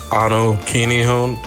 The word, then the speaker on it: Anu Kinihun: It is Anu Kinihun. It's spelled ANUKINIHUN.